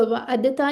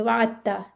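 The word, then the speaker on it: وعدتّ: तशदीद भी लगी है, तो दाल प्रोनाउंस नहीं होगा, वाअदता नहीं करना, बल्कि ये करीबुल मखरज होने की वजह से इस तरह से प्रोनाउंस होंगे, वाअत्ता, ठीक है।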